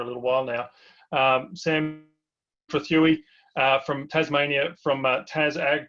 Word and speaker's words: Trethewey: MaiaGrazing, and we're really pleased to have Sam Trethewey, I should say. I've just been getting a lesson on how to say his name correctly, even though I've known him for a little while now. Sam Trethewey from Tasmania, from Tas Ag Co.